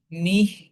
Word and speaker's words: mich: হি উচ্চারণ করার সময় জিহ্বার অগ্রভাগ তালুর সাথে লাগানোর ট্রাই করব।